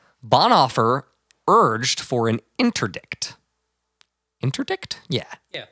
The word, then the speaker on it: interdict: opposition to nazification Bon offer urged for an interdict interdict yeah yeah interdict that's how you pronounce that an interdict to stop offering all